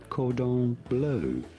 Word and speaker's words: cordon bleu: It is said cordon bleu. Well, cordon Seems bleu, odd. please. It's like the first time you've gone to the restaurant. Could I have some cordon bleu?